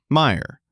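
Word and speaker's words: Mayer: It's mayor spelled like mayor pronounced like Meyer.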